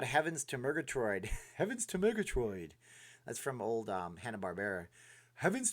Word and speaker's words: Murgatroyd: to Murgatroid heavens to Murgatroid that's from old hanna-barbera having's to Murgatroyd you got to say it like that I watched a lot of